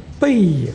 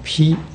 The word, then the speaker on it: 披: 这个地方不能念背红饰铠啊，那就念得不对了，要念披啊，它的意思读音都跟挑手边的披完全一样啊，披这